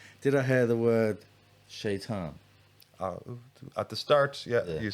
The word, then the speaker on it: شيطان: shaitan.